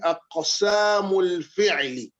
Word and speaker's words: أقسام الفعل: Once again, aqsamul fi'li. Akosamul fil. You can see this cough is having sukun, but we are pronouncing it as if we are pronouncing it with fatha.